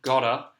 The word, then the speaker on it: gotta: the pronunciation as well we do have the soft D in British English for the T sound gada but the vowel sound sounds quite different with the ah okay a bit of a longer lesson